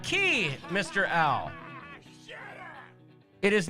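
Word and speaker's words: Cay: coming to visit us we know it's pronounced key by the bahamian people we get it it's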